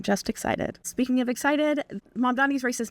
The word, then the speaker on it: Mamdani: The name is Mamdani. M-A-M-D-A. The name is Mamdani, and we should all learn how to say it because he is officially the next mayor of New York City.